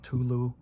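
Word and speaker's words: Cthulhu: to mispronounce this and there's several different ways that people pronounce this it's called cthulu or culu Trilogy and I actually I think the the lore about that monster and the name is it's spoken in a tongue that can't be pronounced by humans or is that how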